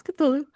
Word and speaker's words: Cthulhu: in um Cthulhu, Cthulhu, I don't however you pronounce it. Ramsy can. Yeah, it's Cthulhu.